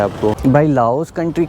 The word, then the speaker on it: Lao: लाओ peoples democratic Republic तो अगर आप इस कंट्री को प्रोनाउंस करना चाहते हैं तो आप लाओ ही बोलें लाओ देश यार भाई